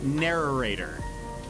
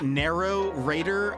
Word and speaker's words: narrator: Narrator. Narrator. There's like too many syllables. I'm pretty positive. I was saying it like a child. Like narrow-rator? Almost like that many syllables.